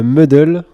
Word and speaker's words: muddle: Quelle est la signification du terme muddle en mixologie? Je sais pas si je le prononce bien. Ouais, c'est ça. Si, c'est bien prononcé.